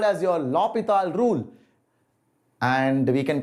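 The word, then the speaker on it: L'Hôpital: is called as your lopital rule and we can call it l hospital also okay whatever you're comfortable with the actual pronunciation i think is uh lopital but you can call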